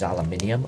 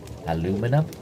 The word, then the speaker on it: aluminium: It's a metal pipe, so this part here is aluminium, or as Americans say, aluminum. I like that, aluminum. Then you've got the mouthpiece here.